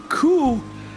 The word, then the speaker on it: 罟: Net in Taiwanese coup has the same pronunciation as the word hope.